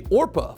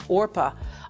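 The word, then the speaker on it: Orpah: it went down as orpa on my birth certificate but people didn't know how to pronounce it they put the P before the r in every place else other than the birth certificate they had trouble with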